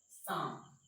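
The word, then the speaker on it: psalm: एस के पहले साम, पी एस ए एल एम, दो स्थितियां यहाँ पर देखने को मिलेगा आपको, एल भी साइलेंट है, पी भी क्या है, साइलेंट है। इसको पढ़ते हैं साम, और साम मतलब होता है भजन।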